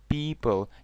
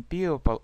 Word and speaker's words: people: Обратите внимание на произношение «и», «people». Никакой «о» не читается не «people», а «people». Люди.